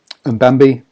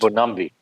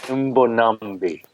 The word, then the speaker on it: Mbonambi: So the bench is Mbambi for the hooker, the beast. Mbonambi. Let me help you there. Say after me. Mbonambi. Here we go.